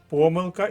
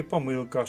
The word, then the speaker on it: помилка: раз топчуся по мізкам помилка і помилка слово має подвійний наголос завдання номер два аналогічне